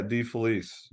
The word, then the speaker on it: DeFelice: Yeah, DeFelice.